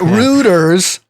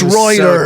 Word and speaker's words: Reuters: and said, "Tell Basil it's not Ruters, it's Reuters."